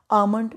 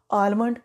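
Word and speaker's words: almond: है पर बोलना नहीं अमन बादाम को बहुत से लोग आलमंड प्रोनाउंस करते हैं जो की गलत है अमन अमन चौक में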